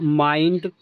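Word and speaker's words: mind: अगर आई के बाद एन डी हो एल डी हो तो आई का उच्चारण आई ही होगा। तो यह देखो माइंड फाइंड वाइल्ड चाइल्ड।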